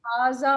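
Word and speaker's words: هذا: हाजा is pronounced हाजा, but it is written without the first alif.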